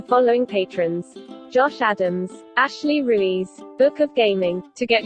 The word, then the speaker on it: Ruiz: It wouldn't take Ruiz as spelled and pronounce it correctly. How did it pronounce it? Ruse. Ruse? Ruse. So it's Russian. Apparently. It's like, no, it's supposed to be Spanish, so I had to spell it out Rueez. And that's when it got Ruiz.